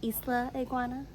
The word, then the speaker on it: Isla Iguana: Notice how I say Isla iguana because I am saying it right now.